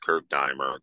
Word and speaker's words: Kurt Diemer: Yeah, it's Kurt, K-U-R-T, and it's Diemer, D-E-I-M as in Mary, E-R, pronounced Kurt Diemer.